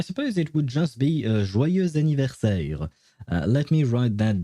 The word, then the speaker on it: joyeux: And yeah, don't ask me why, but the X at the end of joyeux is typically not pronounced unless there is a vowel starting the first word right afterwards, which in this case would be anniversaire.